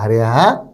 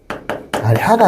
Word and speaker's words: 아래아: 아래야. 아래가 아니라 아래야. 소리는 아와 의, 아의 중간 발음이야. 아면하고 우리가 의면 의고 아면하고 오면 오잖아요. 근데 아으 아니면 아우이 정도 되는 거야.